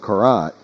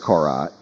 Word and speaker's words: Korat: I mean, here in the suburbs of Korat, I'm trying to pronounce it with the R more.